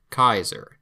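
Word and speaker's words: Caesar: Kaiser. Keep in mind, Kaiser in Latin and Kaiser in German sound very similar, not by coincidence.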